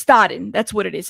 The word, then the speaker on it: Stodden: I'm like forgetting how to pronounce her last name. Courtney. It's Stodden.